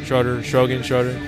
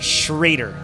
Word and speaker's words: Schroeder: schroeder it's um nope he corrected me i've been saying his last name josh have you ever watched this i have been saying his last name wrong for like 10 years it's actually schrader schrader but it is not spelled like that at all yeah i don't know and